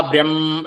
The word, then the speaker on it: ബ്രഹ്മ: മുമപ് പറഞ്ഞിട്ടുണ്ടല്ലോ ബ്രഹ്മഹ ആ ബ്രഹ്മ എന്നുള്ളത് ഒന്നിങ്ങനെ ആക്കി പിടിച്ചാൽ കുറച്ചുനേരം ഒന്നങ്ങനെ ആക്കി പിടിച്ചാൽ അതുകഴിഞ്ഞിട്ട് ഹ എന്ന് ഉച്ചരിക്കുമ്പോൾ ശരിയാകും ബ്രഹ്മ ബ്രഹ്മ ചര്യ ബ്രഹ്മചര്യ ദൃ